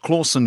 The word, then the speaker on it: Clausen: travel terrible Batman impersonations at Charlie claussen pronounced Clausen shaped hole and mild